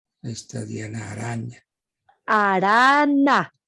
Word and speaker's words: Arana: Argemiro, Diana Araña, ahí está Diana Araña. Arana. Ah, es que yo no pronuncio bien, es Arana.